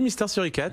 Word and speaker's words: Mister Suricat: Je le prononce à la française, il faut faire comme ça? Oui, Mister Suricat.